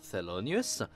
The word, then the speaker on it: Thelonious: Hound, utilise le nom d'emprunt Thelonious, qui se prononce Thelonious.